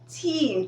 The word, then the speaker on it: team: i hope you got the differences t-h-e-m-e is pronounced theme all right the central part of an idea story what have you and team t-e-a-m okay is a group of people working